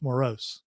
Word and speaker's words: morose: about less or less no it's just more Rose okay it could be consider I mean if if you if you cut it up phonetically it would be more Rose I yeah but I